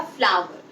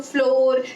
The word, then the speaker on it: flour: उसे फ्लावर, कुछ लोग फ्लोर, नहीं, इट्स कॉल्ड फ्लावर. जैसे FLOWER फ्लावर की प्रोनाउंसिएशन होती है, ऐसे ही FLOUR की भी प्रोनाउंसिएशन सेम होती है, दैट इज कॉल्ड फ्लावर.